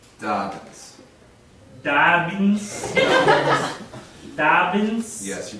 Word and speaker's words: Dobbins: Dobbins. Dobbins. Dobbins. Yes, you pronounce it very good.